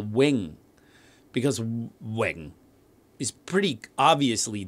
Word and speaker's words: Ving: in his ear that v is the w sound so he spelled it v-i-n-g now i've later heard